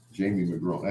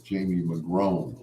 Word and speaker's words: McGrone: Jamie McGrone. I had to write it out the way it sounds, phonetically. So in my phone book, it says Jamie McGrone, like grown man.